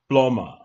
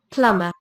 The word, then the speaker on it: plumber: you can see pronunciation plumber let's see what is it okay you can see that the B is not even here so let us hear how it is pronounced PL again plumber again plumber all right